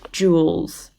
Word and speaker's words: joules: we call it tools it's felt quite interestingly it's spelled that way we call it joules and we can shorten joules instead of needing